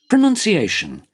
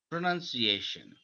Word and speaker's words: pronunciation: আর যেটা আমেরিকান, এটাতে প্রথমে একটু চাপ আছে, এরপর শেষের দিকে ফ্ল্যাট। pronunciation, প্রোনাউন্সিয়েশন, প্রোনাউন্সিয়েশন ভাঙ্গা, মনে হচ্ছে এটাকে সিলেবলটা ভেঙে ফেলছে।